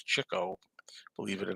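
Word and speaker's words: Chico: don't really think that Cho and that's how you say it it's not ch it's Cho Believe It or Not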